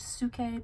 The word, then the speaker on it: Psyche: Well, he takes the ancient myth of Cupid and Psyche, and I say Psyche, it's probably technically supposed to be pronounced Suke because that's how you pronounce the Greek word for soul, which is where her name comes from.